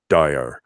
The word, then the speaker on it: Steyr: Remember how to spell it? Yeah, I forgot to say. I know how to say it. Steyr.